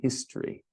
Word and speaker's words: history: And history. History. We don't say the E in literature, the first E, and we don't pronounce the O in history.